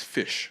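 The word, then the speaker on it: Ghoti: you pronounce it as fish and i was like okay that's interesting it's that basically like a different spelling for fish but you actually pronounce it as fish are not goldie but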